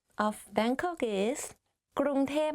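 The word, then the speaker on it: กรุงเทพ: people talk about Bangkok, they will say ก ร ุ ง เ ท พ because like conversation wise it's easier to pronounce like that ก ร ุ ง เ ท พ but a longer name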